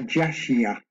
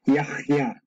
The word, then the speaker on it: Yahya: Well, there is no J in this language. J just came about recently, so it would be pronounced Ya. It's Ya. Now the Ch sound, well, that's English, but in the Paleo Hebrew, it would be Ch. Okay, that Ch sound. So it should be pronounced Yahya.